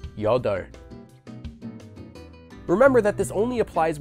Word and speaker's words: 여덟: A very common exception to this rule is the word for 8, which is pronounced the opposite way as 여덟.